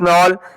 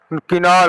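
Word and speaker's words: Knoll: Thomas नॉल, किनॉल, हाँ वही, एक ही साइलेंट होगा।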